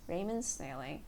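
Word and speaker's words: Raymond Snailing: mo and D s na i L ing Raymond's nailing there we go beautiful so yeah on my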